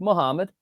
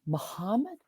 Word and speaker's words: Muhammad: And he's like, "Muhammad." And she's like, "Muhamad." Muhammad. She's like pronouncing it weird.